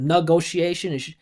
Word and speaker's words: negotiation: mine, for American listeners, when you have those ti endings, the syllable before is the primary stress. So instead of negotiation, it would sound more clear. She said negot negotiation, not negotiation.